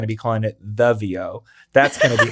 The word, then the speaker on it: Veo: It's not Veo, but it's VO.